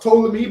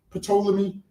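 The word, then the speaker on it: Ptolemy: So it's it's pronounced tolamy but obviously a lot of us say poleami.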